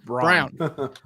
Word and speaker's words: Braun: Nowhere is Braun pronounced Brown. Yeah, especially when you can go to Walmart and buy a Braun razor that's spelled that exact same way.